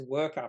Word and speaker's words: WRKR: I'm pretty sure this company is pronounced as worker because that makes sense even though there's no vowels in the name wrkr it just makes sense it would be pronounced worker when they're dealing with